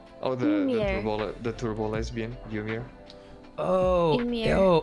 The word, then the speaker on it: Ymir: Oh, Ymir. Amir. That's Ymir. how they say her. They say her name Amir in the show. I think, in the Japanese one, they say Ymir.